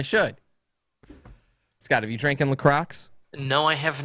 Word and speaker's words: LaCroix: Dude, it's pronounced La Croix.